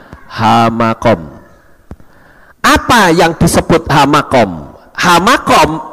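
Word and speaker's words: המקום: Kalau kita melihat di samping ini ada yang saya tulis dengan kata hamakom, he, mem, kaf, waw, dan mem. Membacanya hamakom.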